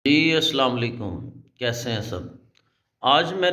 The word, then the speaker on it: السلام علیکم: یہاں پر غلط ہے۔ تو اس کا جو صحیح تلفظ ہے وہ ہے السلام علیکم، اور قرآن پاک کے